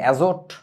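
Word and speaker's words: azote: অ্যাজোট, টিটা সাইলেন্ট থাকবে, উচ্চারণটা হবে হচ্ছে অ্যাজো।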